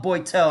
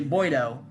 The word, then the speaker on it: Boiteau: It's not Boiteau. I've been pronouncing it Boiteau. It's actually Boiteau.